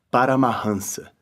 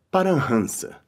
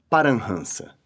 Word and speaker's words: Paramahansa: Em outras palavras, as pessoas falantes de língua portuguesa, ou muito provavelmente qualquer não indiano médio, pronuncia assim esta palavra, Paramahansa. Entretanto, a pronúncia correta é Parahansa.